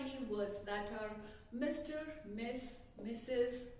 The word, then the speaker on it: Ms: use Ms right so Ms is is uh pronounced as Miss so guys let's make our life simple Ms